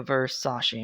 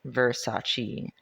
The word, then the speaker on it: Versace: Okay, that was the first result, but then I found a Marie Claire article that says, "You've been saying it wrong." Pronouncing it Versace.